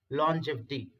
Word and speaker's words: longevity: This is the correct pronunciation, longevity.